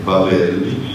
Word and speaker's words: Babel: The simple explanation is that the people of Babel, I use the Hebrew pronunciation of the word, it's also Polish.